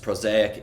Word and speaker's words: Prosaic: you here your new album uh which is pronounced prosaic is absolutely beautiful and I cannot wait for